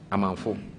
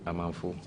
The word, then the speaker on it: Amanfo: J-K, Amamful or Awamful or Awamiful? Amanfo. Yeah, Amamfu? Amanfo. You have Amamfu. Yes, because Amamfu. Amafu, how would you spell it? A-M-A-N-F-O. Amanfu, okay. Okay.